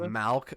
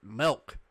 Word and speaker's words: milk: the time like he used to say malk and i was just like it's milk and honestly the way you can tell tell that you're mispronouncing milk is because when someone says milk you can hear the enunciation versus malk exactly malc is just like